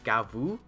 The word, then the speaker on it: Gavv: very mouth mouthy themed gav the name is in Japanese it's gavu you could the the Katakana there is gavu I'm just going to say gav because it's spelled gav